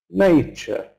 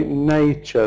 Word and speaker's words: nature: But we can say nature the stress in the first syllable and the second syllable just simply ch sound.